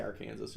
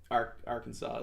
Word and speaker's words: Arkansas: I like to say Arkansas just to fuck with the team, but Arkansas is how you say it, obviously.